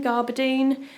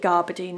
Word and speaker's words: gabardine: Gabardine? I think I call it gabardine and everyone tells me off and says you're not supposed to pronounce the R.